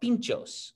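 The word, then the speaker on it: pintxos: eat tapas they eat what's called pinchos and it's spelled p-i-n-t-x-o-s and so a pincho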